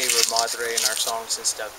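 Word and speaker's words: Rarámuri: Yeah, say it right. You have to let the R's roll. It's called the Ramadre.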